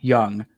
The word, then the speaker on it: Jung: Jace and Josh Young. Young is spelled with a J in case you didn't know.